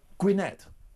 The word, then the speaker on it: Gwynedd: Have I pronounced your town correctly? Say it again. Gwynedd.